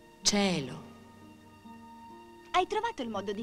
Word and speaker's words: cielo: Molti attori non sanno neanche pronunciare la parola cielo. Dicono cielo. E invece si dice cielo.